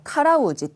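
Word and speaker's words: 辛うじて: 같은 말인데 읽기 자 이거는 매울 신자니까 카라이라고 읽으실 것 같은 느낌 드시겠죠 카라이라고 읽을 것 같지만 가로 가로라고 일단 좀 특이한 발음이에요 그래서 외워주셔야 됩니다 그 이거 혹시라도 읽기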